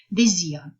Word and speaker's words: désir: Un S placé entre deux voyelles se prononce toujours comme un Z. Toujours. Un S entre deux voyelles, quelles que soient les voyelles, se prononce toujours un Z, comme un Z. Désir, comme dans le mot désir.